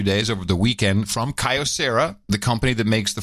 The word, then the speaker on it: Kyocera: of these devices and this is a Kyocera or Kyocera how you pronounce it pretty big company so I like touts Kyocera it is Kyocera yeah now I think